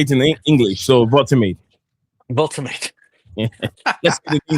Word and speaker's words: Woltemade: say a lot of the accents is with a vuls, that's like a vuls, like that, something like that, Wulsameda or something like that. Yeah, so it'd be something like that. That's how you pronounce the name.